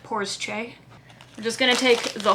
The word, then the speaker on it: Porsche: somebody pointed out that this name of car is not porsche it's two syllables so it is in fact poor's che we're just gonna take